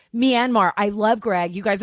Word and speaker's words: Myanmar: on this um Greg am I saying it correctly Myanmar Myanmar Myanmar okay you see I was not saying it correctly Myanmar I love Greg you